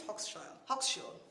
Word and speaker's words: Hochschild: I make this joke all the time, but no one can tell me how to pronounce this woman's name. So anyway, I think it's Hochschild.